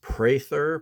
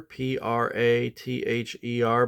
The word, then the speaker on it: Prather: So my name is pronounced Prather, Prather, but there's a long A. So it's pronounced as if it's spelled Pray, like you pray in church, even though there's no Y in the spelling.